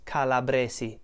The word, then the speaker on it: calabresi: they might be right say it with an unvoiced S which is calabresi calabresi Can You Feel the difference calabresi calabresi voiced so take the unvoiced version as your right pronunciation and it's calabresi and